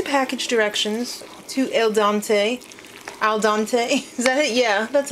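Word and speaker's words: al dente: pasta according to package directions to El Dante al dante is that it yeah that's how you say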